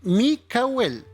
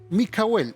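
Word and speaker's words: מיכאל: Miguel es la palabra Micael, ¿ya? Eh, y se pronuncia o fonéticamente Mikel. Mikel, ese es el nombre de Miguel.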